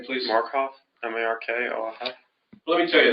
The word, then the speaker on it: Markoff: Would you pronounce and spell your last name, please? Markoff, M-A-R-K-O-F.